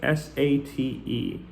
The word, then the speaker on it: sate: Well, it's spelled S-A-T-E. Heavy sate upon her palfrey slow, but obviously this is heavy sat upon her palfrey slow.